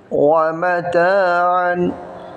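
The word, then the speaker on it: مَتَاعًا: ওয়া জবর ওয়া, মিম জবর মা, ওয়া মা, তা আলিফ জবর তা, জবরের পরে খালি আলিফ হওয়ার কারণে এখানে এক আলিফ টান হবে। ওয়া মা তা, তা আলিফ জবর তা, আইন আলিফ দুই জবর আন।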